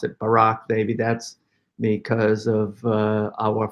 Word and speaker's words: Barak: dynamics here so deborah goes to the reader pronounce it barak i always pronounce it barack baby that's because of our former president but